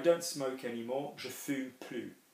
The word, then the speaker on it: plus: I don't smoke anymore, je fume plus. So don't be thinking, okay, if I have ne and plus, then I'm not pronouncing the S.